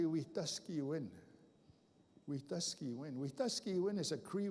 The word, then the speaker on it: Wetaskiwin: People call it Wetaskiwin. Anybody know where Wetaskiwin is? It's in Alberta. It's right by my reserve, but it's actually Wetaskiwin.